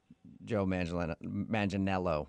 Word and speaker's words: Joe Manganiello: Because we talked to him, and he told us that a lot of people say he looks like Joe Manganiello, right?